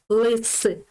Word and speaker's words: лис: Лис. Буква С буде тверда.